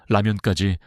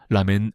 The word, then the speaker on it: 라면: 김밥부터 라면까지 다양한 음식이 등장했죠. 과거에는 한국 라면이든 일본 라면이든 미국에서는 모두 라멘 라멘으로 통칭되었습니다. 하지만 이번 영화 덕분에 많은 미국인이 한국의 라면은 라면이 아닌 라면 라면으로 발음해야 한다는 사실을 학습했습니다.